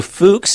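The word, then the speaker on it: Fuchs: what is fuks distrophy so fuks is spelled Fu HS named after a do fuks who historically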